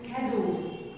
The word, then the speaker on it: cadeau: عندي بعد كده كلمة كادو كادو كادو يعني الهدية E A U نطقتهم O.